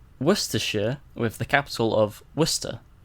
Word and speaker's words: Worcestershire: Because then people try and read it and they pronounce it Worcestershire. Or Worcester. Worcestershire. And yeah, it's Worcestershire. Worcestershire. That is a tricky one.